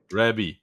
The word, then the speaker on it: Rabby: I'm not sure even how it's pronounced. Rabbi. Rabby. Yes.